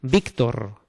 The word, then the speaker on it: Víctor: Porque si no ponen la tilde, hay que decir Ócar, Víctor y Héctor, ¿no? Y no es así. Estos nombres se pronuncian Óscar, Víctor, Héctor, ¿vale?